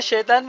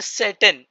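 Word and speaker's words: Satan: Protection from शैतान the English में शैतान भी बोल सकते हैं, इंग्लिश में सैटन। सैटन बोलते हैं। जैसे ये इसमें एच नहीं है तो सैटन।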